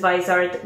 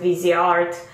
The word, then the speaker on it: Viseart: she looks like so this is Weiser golden hour palette or you can pronounce it VZ art so this just recently